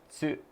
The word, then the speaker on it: つ: It's really hard to pronounce that because tsu is like you have to like say it in a certain kind of bitten off way, like tsu. 机が 2 つあります。 Tsukue ga. You almost don't even pronounce it.